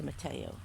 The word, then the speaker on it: tomatillo: It's spelled tomatillo, but it's called a tomatillo.